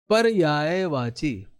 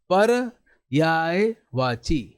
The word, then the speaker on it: पर्यायवाची: पर्यायवाची अब मुझे बताओ इस पर रेफ कहां लगेगा मैंने क्या बोला पर्यायवाची पर यायवाची क्या बोला पर्यायवाची मतलब कि प के बाद र का आपने उच्चारण किया रफ वाला र